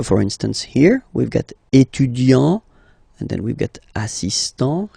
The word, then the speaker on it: étudiant: Okay, so it will of course change a little bit the pronunciation, because you will pronounce it at the masculine form. Il est étudiant. Okay, A-N-T, étudiant.